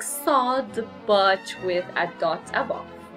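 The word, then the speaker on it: صاد: Now the next is sod, which is a very, very heavy S, which is sod, like this. The pronunciation is s.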